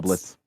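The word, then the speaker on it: doublets: Dublets. So it's it's pronounced how spelled. Yeah. Dublets. It's a 1500s or so style of jacket or vest. Yeah. It's pronounced how it's spelled.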